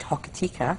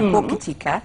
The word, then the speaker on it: Hokitika: Our friends over in Cockatay, which is outside Hokitika, or Hokitika. I never pronounce it right. Hokitika.